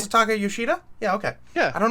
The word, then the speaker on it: Masataka Yoshida: Masataka Yoshida?